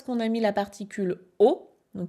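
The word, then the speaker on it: を: Et ici, pourquoi est-ce qu'on a mis la particule o, donc qui s'écrit wo, mais qui se prononce o?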